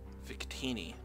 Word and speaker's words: Victini: I don't know how you pronounce it. Is it Victini? I always call it Vicinity. Victini, okay.